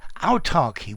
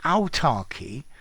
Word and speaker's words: autarky: y now the word autarky with ch notice they both sound the same um talks about a